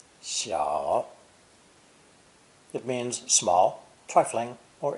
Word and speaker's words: 小: one on either side pronounce the third tone shaw it means small trifling